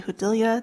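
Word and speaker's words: Judilla: members of the committee my name is hudilia that's spelled m-e-l-o-d-y-j-u-d-i-l-l-a and I'm the deputy director of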